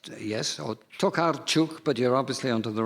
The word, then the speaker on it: Tokarczuk: Now, I might not be able to pronounce this properly. It's Olga Tokarczuk. It's, yes, or Tokarczuk, but you're obviously onto the right person.